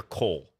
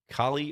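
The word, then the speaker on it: Colle: system let's go D5 is it Cali or Cole how do you pronounce that system I never know I kind of just alternate the two until someone corrects me in no one else seems to know Kali or Cole like Kali that doesn't help with the pronunciation first one is what I say yes um that's what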